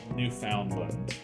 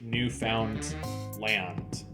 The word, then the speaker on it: Newfoundland: Great Britain, Greenland, Peru, Newfoundland or Newfoundland. That's such a weird pronunciation. Like it's clearly like Newfound Land. Like that's clearly what it was named. But like Canadians pronounce it Newfoundland.